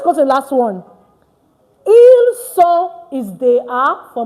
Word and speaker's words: ils: The S is not pronounced at the end. So it's not ils, it's not else. No, it's il and L.